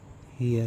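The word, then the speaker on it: heir: ही इज एन हियर।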